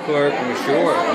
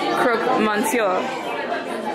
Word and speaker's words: Croque Monsieur: The Croque Monsieur. You butchered that. I did, because I'm not French. Croque Monsieur. I'm not French either, but I think that's closer.